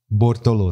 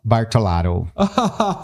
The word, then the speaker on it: Bortolotto: Ah, que é o Bortolotto. Bortolotto. Como é que eles falam? Bartolaro. É engraçado, né? A pronúncia.